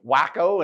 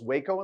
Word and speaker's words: Waco: Rosalie's like, wacko and Lubique. I love it. That's good, Rosalie. For those in Texas, yes, Rosalie just butchered your town. It's Waco and Lubbock, and he's in Texas.